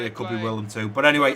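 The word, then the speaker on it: Willem II: well, I'm so sorry, I think I've been pronouncing this team William 2. I don't know if it's Willem. I don't think it's William. I don't think there's an I in it. So I'm guessing it's pronounced Willem 2. So if I have been pronouncing that wrong, I do apologise, guys. We'll go with Willem 2. I feel like that seems a little bit more legit than William 2.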